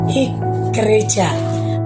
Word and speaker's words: igreja: Kata gereja dalam bahasa Indonesia itu berasal dari sebuah kata dalam bahasa Portugis, yaitu igreja. Tulisannya igreja, tapi bacanya igreja.